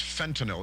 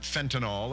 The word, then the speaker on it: fentanyl: recently who said, listen, I don't like the way you pronounce fentanyl. It's not fentanyl, it's fentanyl. And I had a nice conversation with him. And, it's true. It's true enough. So fentanyl, it's a YL at the end.